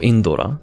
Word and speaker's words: Indra: Indra, specifically the Kirin Bolt Indra, or Indora, as it was called in first gen. That was their translation of it, because that's how it's said in Japanese.